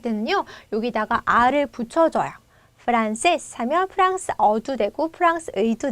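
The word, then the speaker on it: francés: 강세의 불규칙으로 렇게 찍혔고 여기다 힘을 주면 되죠 프란세스 프란세스 그럼 여러분이 발음할 때 프란세스고 이렇게 소리해서 세스 마지막에 힘을 주어서 단어 키고 그리고 여러분이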